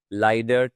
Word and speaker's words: leider: Next up, we have the very important combination of A and E, or E and I. The pronunciation will be I. So we'll say as in my, leider, teilen, seid, seid, white, bleiben, und Zeitung.